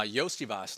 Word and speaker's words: Iosivas: are in um is how do you pronounce it iosivas uh yosias like Yoshi from Mario yosias uh yeah I mean 5%